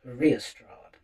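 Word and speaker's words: Riastrad: are going to hear from a band called Restrad, who are a sort of heavy dune band, I would say. Um, it's actually spelled R I A S T R A D, but it's pronounced Restrad.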